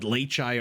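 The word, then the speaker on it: Leičiai: And yes, that is how you pronounce the plural of Leitis. There have been some comments on my wall recently suggesting that perhaps Leichai is not the right way to pronounce it, but I have it on good authority from a Lithuanian viewer that is actually how you pronounce it, and also how you spell it.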